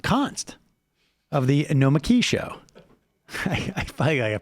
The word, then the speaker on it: Nomiki: And joining us in studio, Nomiki Const of the Nomiki Show.